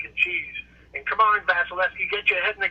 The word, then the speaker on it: Vasilevskiy: uh andrei vasilevsky that's that's i'm going to pronounce his name robert he's a terrific guy but vasilevskiy who's the um the goalie for the tampa